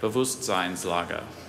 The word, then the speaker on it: Bewusstseinslage: Dieter described his son's attitude toward academic matters as an apathetic Bewusstseinslage. Can you please repeat both pronunciations?